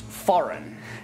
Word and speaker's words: foreign: Another word that has a silent G is one that I've seen many learners trip up with. This word is pronounced foreign.